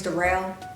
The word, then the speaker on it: Darrell: My name's Darrell, spelled like Daryl, but it's pronounced Darrell.